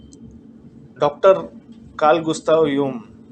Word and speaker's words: Jung: doctor Karl Gustav यूंग, जंग भी बोलते हैं, JUNG, जे is silent, यंग, जो एक इमिनेंट साइकेट्रिस्ट